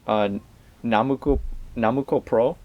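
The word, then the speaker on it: 765プロ: But it's typically referred to as Namuko Pro, and the reason for that is because if you read the numbers phonetically in Japanese, it's a bit of a pun. So 7 is na, 6 is mu, and 5 is ko.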